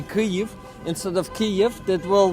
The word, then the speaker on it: Kyiv: For example, Kyiv is the right way to say it in Ukrainian, but if you say Kiev, it insults us Ukrainians a bit.